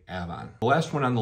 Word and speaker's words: Avon: also and a lot of people will say Avon but to be a local you're gonna say Ave the last one on the list here is